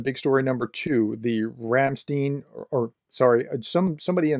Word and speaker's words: Ramstein: story number two the Ramstein or sorry some somebody in the comments was told me in German it would be pronounced rumstein okay thank you for that by the way the rumstein uh Group contact sorry